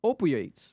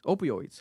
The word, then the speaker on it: opioids: She says, "Oopioids." Opioids. How do Am I mispronouncing that shit?